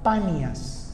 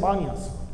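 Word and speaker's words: Paneas: Cristo y esa ciudad ellos La llamaron bas que realmente no era bas Era panas con p paas Solo que las personas oriundas de allá los majetas caros no son capaces de pronunciar la p Entonces ellos dicen banias entonces la ciudad luego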